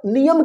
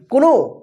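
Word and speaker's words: know: यानी हमारा जो है के साइलेंट रहेगा ठीक है ना तो यहां प जैसे एग्जांपल में देखिए के एन ओ डब् ठीक है ना तो इसको क्या पढ़ेंगे कोनो कोनो गलत हो जाएगा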